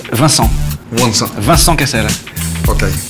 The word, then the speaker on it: Vincent: No, it's not Vincent, it's Vincent.